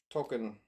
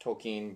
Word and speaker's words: Tolkien: remember um nonetheless uh token and I'm pretty sure it's pronounced Tolkien but I pronounced a token my whole life and I'm going to continue to mispronounce it but nonetheless he was